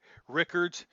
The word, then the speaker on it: Rickards: just because it's unusual it looks like richards but it's actually like rickards um first of all